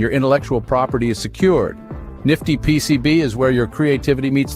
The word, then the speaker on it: NFTyPCB: we see today introducing nftypcb pronounced as Nifty PCB a platform that takes